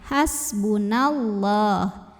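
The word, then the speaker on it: حسبنا الله: kalau wasol nonnya pendek Hasbunallah atau lam jalalah dibaca secara tafkhim Kenapa karena huruf sebelumnya berbaris fathah maka bacanya ditebalkan pangkal lidah diangkat Hasbunallah Alif lamnya namanya alif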